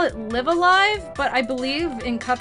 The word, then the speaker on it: Live A Live: tie boo so it's it's pronounced live alive just so y'all know